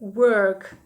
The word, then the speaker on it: work: таке Це працювати але не плутайте його зі словом вовк вони вимовляються по-різному в слові робота є звук е век та перша літера у нас читається як wow витягуємо губи трубочкою Work а в другому слові так